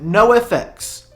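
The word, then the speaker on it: NOFX: A band that for years and years um I did not know how to pronounce. No. No. Nafalsa NX. How do you say it? No FX.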